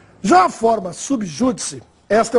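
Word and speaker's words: sub judice: Já a forma subjúdice, esta é uma forma latina e se escreve, sempre há registro, sub separado de júdice e sem acento, embora a pronúncia seja de proparoxítona.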